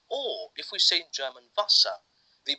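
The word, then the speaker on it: Wasser: because water is or if we've seen German Vasa they pronounce the W line V so even if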